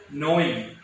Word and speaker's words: gnawing: Okay, G N A W আছে, কিন্তু আমি G টো সাইলেন্ট থাকিব আৰু আমি কি বুলি কম? gnawing বুলি কম. আমি gnawing বুলি নকওঁ, ঠিক আছে? You will pronounce it as gnawing.